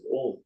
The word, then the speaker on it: Om: Om has got 3 syllables, 3.5, Akara, Ukara, Makara. That is A, U, Ma.